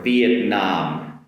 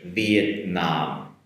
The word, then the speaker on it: Vietnam: Um after that going back to Asia for a Vietnam Vietnam Vietnam. A little bit different on the uh the follow-up pronunciation compared to Japanese and English. Vietnam.